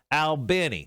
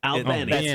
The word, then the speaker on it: Albany: Albany. Albany.